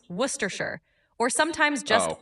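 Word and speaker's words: Worcestershire: It's typically pronounced worershir or sometimes just worcester. The shire part is often shortened so you can say worcester sauce and you'll be good.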